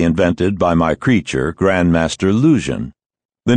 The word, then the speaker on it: Luzhin: chess defense supposedly invented by my creature grandmaster lujan the name rhymes with illusion if pronounced thickly enough to deepen